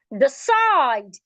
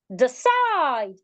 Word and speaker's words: decide: The side. Now, the stress moves to the second syllable because it's a verb. The side.